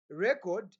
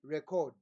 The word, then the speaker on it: record: two different things so the stressing point in English is that when you stress the first part or the first sound or syllable of the word that word becomes what a noun and when you stress the last part of the word that word is what is a verb are we together there